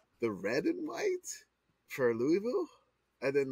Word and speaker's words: Louisville: material for Dear Old Louisville Bureau of Kentucky you're putting too many con you're putting too many syllables in Louisville take your tongue glue it to the bottom of your mouth this thing I'm